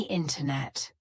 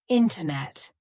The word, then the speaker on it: internet: sentence a little bit there are two different ways to have the glottal te the first one is with an NT so for example the words International winter internet sentence in these words the